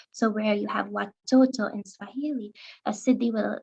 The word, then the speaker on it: watoto: able to hear that i've pronounced the t's with as retro flex sounds which is something that happens with the pronunciation of foreign words in hindi the ts will become the dental sounds will become manifested as retroflex sounds so where you